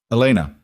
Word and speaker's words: Elena: Elena. He said it the same way he always said her name, flat, direct, with that faint accent on the first vowel.